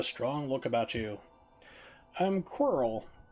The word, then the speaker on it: Quirrel: look about you i'm quarrel rhymes with squirrel something that would eat